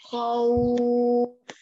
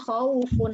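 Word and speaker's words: خوف: Makanya bacanya jadinya khauf. Nah, bukan khaufun lagi, tapi khauf.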